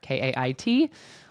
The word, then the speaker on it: Kait: Yes, even though it is pronounced like Kate, Kate, it is Kate, Kait. So think Caitlin with the Lin chopped right off the end there. Kait.